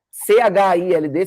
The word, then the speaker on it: child: Yes, esse plural irregular tem uma particularidade que ele tem o mesmo começo de palavra, mas ele se pronuncia diferente no singular e diferente no plural. O singular, C-H-I-L-D, você vai falar child.